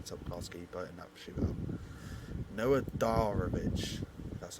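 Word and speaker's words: Noah Darvich: very very very top class but up shoot Noah darich that's how you say it German 17 years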